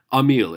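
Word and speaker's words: Émile: um Emil EMI Ellie Emil it's not Emily the title is not pronounced Emily its Emil and it's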